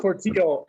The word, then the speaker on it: Portillo: Hey everybody, I'm Portillo, and I live in Camarillo. It rhymes. Isn't that cool? My last name rhymes with the city I live in.